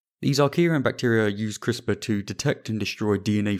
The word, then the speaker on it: CRISPR: amazing gene editing phenomenon that is crispr that's c-r-i-s-p-r pronounced crispr and it stands for clusters of regularly